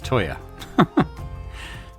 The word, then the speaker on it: Toya: I keep calling him Teo, I think, but it's Toya.